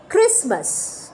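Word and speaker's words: Christmas: দেব প্রথম শব্দটা আপনারা দেখতে পাচ্ছেন লেখা রয়েছে ক্রিসমাস ক্রিসমাস এবার ক্রিসমাসে যেটা খুব ইম্পর্টেন্ট স্পেলিং আমরা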